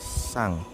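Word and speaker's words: さん: Tapi kalau normalnya menggunakan sang. Jadi ini san, tapi dibacanya sang karena n dibaca.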